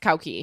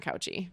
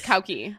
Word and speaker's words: Cauchi: And it's actually pronounced Cauchi, not Cauchi. I learned when I went to Malta. Yeah, Jenny went to Malta. Wait, are we supposed to say Cauchi? It's Cauchi.